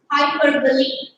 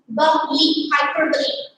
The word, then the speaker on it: hyperbole: It sounds a little odd to pronounce it, but then the correct pronunciation is hyperbole. Somebody pronounces it as bole, but it's not bole, it's bali. Hyperbole.